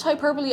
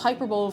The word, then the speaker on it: hyperbole: Tubby Custard doesn't it I pronounced hyperbole as hyperb for the most of my life and I've never heard